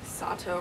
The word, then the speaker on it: Sato: Sato rhymes with gelato, and gelatos are delicious.